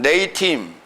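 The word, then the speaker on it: לְאִתִּים: 레이팀. 발음 한번 해보면 레이팀.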